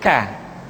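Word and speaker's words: ك: Selanjutnya huruf K diucapkan dengan mengangkat pangkal lidah kita ke posisi di depan huruf Qaf. K diucapkan dengan mengalirkan nafas kita. K. Ki, ku, bak. Terdengar ada suara yang atau nafas yang mengalir.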